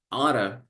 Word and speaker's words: ought: Actually, you can also pronounce like oughta, but remember, oughta is a synonym of should.